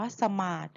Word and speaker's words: สมาธิ: ด้วย ความ จด จ่อ น้อง นั่ง ขัด สมาธ ร้อง เพลง คำ นี้ เรา จะ อ่าน ว่า สมาส นั่ง ขัด สมาธ รู้